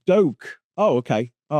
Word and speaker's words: Duque: Pronounced Doke.